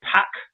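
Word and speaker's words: PAOK: Is it PAC, Mike? I think that's how you say it. Yeah, PAC.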